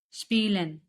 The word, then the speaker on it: spielen: Spielen. Spielen means to play.